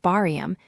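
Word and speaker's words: 발음: So the L slides across and it is pronounced barium meaning pronunciation which is rather fitting.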